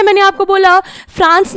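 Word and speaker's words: français: यहां पर जब हमने कोई भी वॉवल नहीं था, एंड में सिर्फ एक कॉन्सोनेंट था, तो हमने फ्रांसे बोला, हमने एस का प्रोनाउंसिएशन नहीं किया। लेकिन यहां एस के पीछे ई था, एक वॉवल था, तो हमने बोला फ्रांसेज।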